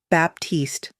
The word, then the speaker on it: Baptiste: He pronounced it correctly. Baptiste, the French way, the way her father used to say it.